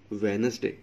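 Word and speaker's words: Wednesday: Next आ गया वेनसडे, डी इसमें silent वेनसडे, वैन एन एस और डे वेनसडे हाइफ़न कर देंगे वेनसडे।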